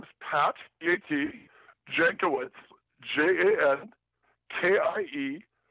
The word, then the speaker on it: Jankiewicz: Jankiewicz, JANKIEWI, C as in cat, Z as in zebra. Yeah. I know some old school, old country guys pronounce it Yankiewicz, but we Americanized it.